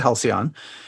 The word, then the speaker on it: Halcyon: Well, Chris, you get the gold star for pronunciation. It is, in fact, the Halcyon.